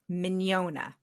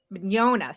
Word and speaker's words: Mignogna: I say if they're familiar with filet mignon, but I've been noticing that people don't always pronounce filet mignon the way I pronounce filet mignon. yeah. Did you say? Did you say "ya" at the end, like an IA or a YA? Like an not really a Y, just Okay, mañana. Mignogna.